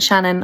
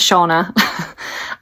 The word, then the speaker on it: Shauna: I do apologise, but her name isn't Shannon or Shannon. Her name is Shauna.